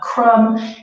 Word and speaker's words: crumb: those individual crumbs and you notice that the be very silent so whenever you see a word ending and the the B is always silent so another example would